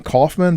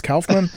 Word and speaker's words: Kaufmann: saying it right because i'm used to saying kaufman but it's kaufman it is it's just like